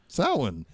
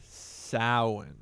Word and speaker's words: Samhain: last farm that country Irish how do you pronounce it sowon sowon yeah but it's a lot of people pronounce